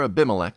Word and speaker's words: Abimelech: After Abimelech, which is the correct pronunciation that I kept ruining last time, after